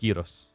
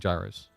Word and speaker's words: gyros: Isn't uh gy pronounced y in Greek? Maybe. So, I mean, I've heard Greeks, multiple Greeks call it gyros, so I'm pretty sure it's giros or they're just like a little bit heavy on accent. But either way, it's a lot closer than gyros and gyros.